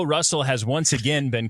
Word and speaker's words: Russell: Oh, he uh it rhymes with hustle. Russell. David O. Russell.